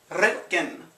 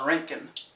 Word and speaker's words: Roentgen: Roentgen. Roll your R's. Or, of course, if you're from America, you'll call it a Roentgen.